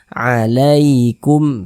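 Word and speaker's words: عليكم: Nah, maka cara membacanya itu dilunakkan, mudah, tidak memberatkan lisan. Kita baca alaikum begitu. Nah, jangan ditekan-tekan, jadi lunak saja.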